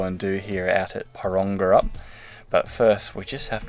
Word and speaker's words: Porongurup: This week we are at a tiny town in the southwest of Western Australia called Porongurup. Porongurup. It's so catchy. Porongurup. Porongurup. Porongurup. My apologies. We've been Googling how to pronounce town names now because we've been getting in trouble for pronouncing things wrong.